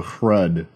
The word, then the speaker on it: Hrud: Xenos known as the Hrud. Now the Hrud, that rhyme with Kurud, that was stupid, are downright 100% Xenos tomfoolery.